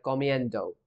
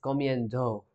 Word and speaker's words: comiendo: So and do is pronounced like dough, similar to a dough in dough. So a comiendo, right? That does sound better. Initially, I thought this would be something like comiendo, but it's comiendo, right?